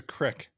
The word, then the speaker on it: creek: yeah all right uh what's a crick that's how he says it I mean it's one thing we see different I see Creek and he says Creek it's spelled c-r-e-e-k and we the Our